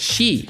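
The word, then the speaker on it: 四: has exactly 4,444 HP the number four is pronounced she in Japan which is also the word for death making it an ominous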